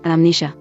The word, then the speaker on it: amnesia: Silent M occurs in initial Greek-derived mn-, mnemonic, mnemosony, but is pronounced after a prefix, amnesia.